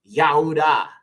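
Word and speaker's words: יהודה: of uh Jacob okay so judas's name was actually yahuda okay same thing with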